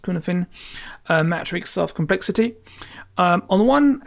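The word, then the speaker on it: Cynefin: It's often linked to the Cunefin, written Cunefin, but it's pronounced Cunefin, matrix of complexity.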